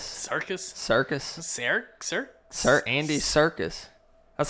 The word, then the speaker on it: Serkis: at Circus Circus Circus Sarek sir Sir Andy Serkis that's how you say his name darkest yeah Andy Serkis fear not Kirkus I don't know how -